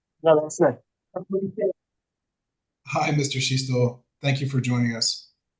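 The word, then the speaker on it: Schichtl: Shistol. Last name is spelled S C H I C H TL.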